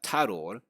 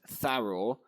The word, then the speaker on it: Tharoor: I don't want to mispronounce his name. Shashi Tharoor, which the British generally butcher that pronunciation as Tharoor, but this is not actually the Devanagari pronunciation.